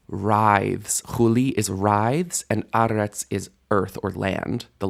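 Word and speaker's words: אֶרֶץ: Mi lifnei Adon huli aretz. Mi lifnei Eloah Yaakov. You might have noticed aretz has initial stress. Before the Lord, Chuli aretz, the earth writhes. Chuli is writhes, and aretz is earth or land.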